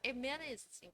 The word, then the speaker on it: Emmaus: 자, Emmaus 그 엠마오로 가는 거예요. 엠마오인데 Emmaus 이렇게 발음을 합니다.